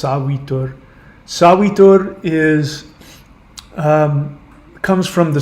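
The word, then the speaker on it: Savitr: Looks like Savitur. It's pronounced Savitur.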